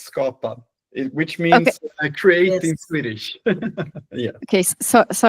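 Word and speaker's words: skapa: S did all the practicing with the the pronunciation, but I didn't. Is it scappa? Is it how you say it? I think we will get to that, but it's Scotta, which means create in Swedish.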